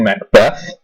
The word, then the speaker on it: Macbeth: first this Macbeth but the Scottish name to pronounce Mac not Nick or Mick Mac Beth now there's